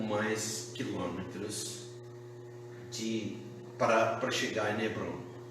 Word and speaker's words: Hebron: Hebron fica desse vale de Chavé a cerca de 40 pouco mais quilômetros para chegar em Hebron, ou Hebron, a pronúncia hebraica.